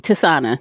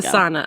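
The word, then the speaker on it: Tisaanah: Tisana. There we go. Tisana, okay.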